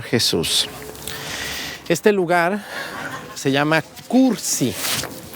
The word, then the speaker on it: Kursi: este lugar se llama cursi con k de kilo cursi así se dice y se escribe ese cerro que tenemos